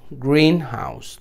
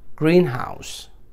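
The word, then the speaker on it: greenhouse: Compound noun, जैसे कि ग्रीन हाउस, तो हम पहले वाले पे देंगे. जब कंपाउंड नाउन आएगा तो फर्स्ट पे स्ट्रेस आएगा, ग्रीन हाउस.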